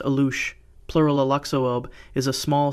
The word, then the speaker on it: Alux: The Alux, pronounced Alush, plural Aluxoob, is a small spirit figure from